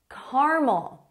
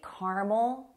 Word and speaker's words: caramel: Caramel. You might see caramel apples, especially in the fall. They're very popular. But some people say caramel. Both are correct.